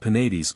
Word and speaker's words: Penates: Thus Cybele and Penates are words of 3 syllables.